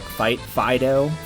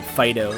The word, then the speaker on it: Fido: Fido? I think you just pronounce it Fido, like, you know, like, here, Fido.